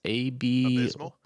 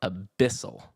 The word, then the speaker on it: Abyssal: Abysmal? No, that's what I thought. But it's Abyssal, Abyssal. Oh, Abyssal. Okay. Like an abyss, right?